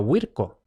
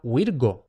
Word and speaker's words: Virgo: muy claramente, con C, pero esto no se pronunciaba con C, esto no se pronunciaba Virco, esto realmente se pronunciaba Virgo.